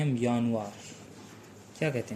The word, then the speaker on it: Januar: तो सबसे पहले आता है हमारा यानुआर।